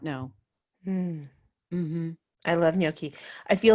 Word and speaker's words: gnocchi: seriously love it and it is pronounced gnocchi because that's the Italian way so if you go and order how do people say no Nikki you know there